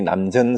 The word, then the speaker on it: 남전: 조주 스님이 남전 스님이에요. 남천자인데 남전이라고 읽어요.